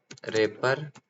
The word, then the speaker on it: wrapper: का हमारा टॉपिक है रेपर क्लास ठीक है उसको आप रेपर भी बोल सकते हो रेपर भी बोल सक वैसे तो उसे रेपर क्लास कहते हैं क् डब्लू साइलेंट होता है ठीक है तो अब